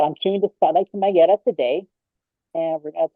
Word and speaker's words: Magdiela: How you pronounce it? Is it Magdiela? Magdiela. So it's Magdiela with the yeah, Ella.